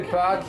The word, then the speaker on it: Pâques: Tous les Pâques chez toi, hein? The French word for Easter is even Pâques, and it's spelled P-A-Q-U-E-S, like Jacques, with a P.